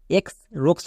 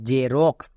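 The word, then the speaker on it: Xerox: দেখো যে রক্স এটাকে অনেকে ভুল করে এক্স রক্স বলে কিন্তু এটা সম্পূর্ণ ভুল কারণ এখানে দেখো শব্দের শুরুতে এক্স আছে শব্দের শুরুতে এক্স থাকলে এর জন্য উপর গিয়ে ইউসই তাই এটা দাঁড়ালো জে রক্স এক্স ই আর ও এক্স জে রক্স আবার এখানে দেখো শব্দের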